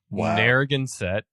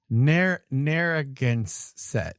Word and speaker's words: Narragansett: Beach, I picked up a 75th anniversary can Narragansett beer. Did I say that right? I always feel like I don't say that right. Like, I'll put it up again. I need to read it again. Narragansett.